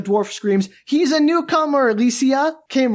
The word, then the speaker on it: Elysia: And that's spelled Elysia, just to be, extra fun.